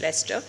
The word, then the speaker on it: Leicester: The spelling is a little different, but pronunciation is Leicester.